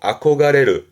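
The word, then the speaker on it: 憧れる: 발음은 그렇죠. 아코가레르.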